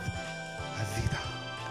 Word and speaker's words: Afida: Viewers and guests, now I bring you on the Talk Golden Me video podcast show, Afida Turner playing word for word.